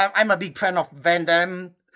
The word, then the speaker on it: Van Damme: a big fan of Van Damme Van Damme, as you should pronounce it right cuz he's like it's like a French name.